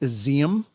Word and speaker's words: Izium: Ukraine authorities have found 444 graves at a mass burial site in, it's pronounced Izium, which is an eastern city reportedly recaptured from Russian forces.